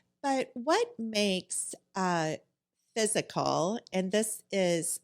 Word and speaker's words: Fyzical: 50 to 150 location type range but with physical you guys were established in 2012 and started